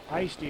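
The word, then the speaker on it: Eigsti: Now maybe we can concentrate a little bit more on Esty or Ice-T. E-I-G-S-T-I. Ice-T is, I think, how they pronounced it for us.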